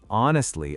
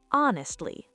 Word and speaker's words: honestly: Honestly, officer, it wasn't me. And five, pronunciation. The H is silent. It's honestly, not honestly.